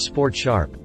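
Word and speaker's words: Sport#: and sport hash modes for those not musically inclined that last one is pronounced sport sharp matched with a willing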